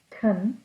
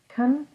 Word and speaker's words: can: Can sometimes is pronounced as kun, and sometimes is pronounced in that full form of can. This is kun and can. And they're both spelled like this. It just depends on the situation if you say a fast one or a slow one.